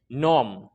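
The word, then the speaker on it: gnome: जैसे नोम, नोम में क्या हुआ है, नोम के अंदर क्या हुआ है, अगर एन से पहले जी आ गया है, एन से पहले जी आया है तो साइलेंट हो गया।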